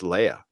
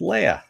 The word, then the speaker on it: Leia: Is it Princess Leia or Princess Leia? It's Leia.